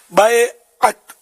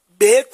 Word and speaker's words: بیعت: بیعت، بیعت نہیں، بیعت صحیح تلفظ ہے۔ بیعت کا لفظی معنی